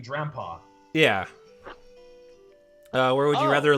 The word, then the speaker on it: Drampa: Durompa, that Falcor never-ending story looking thing, and Trompa, yes, Trompa. Or do I? Well, well, no, it's actually the correct pronunciation, Drampa.